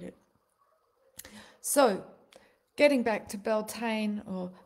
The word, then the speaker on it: Beltane: we can integrate it so getting back to belane or belon as its career correctly pronounced I learned when I was in Ireland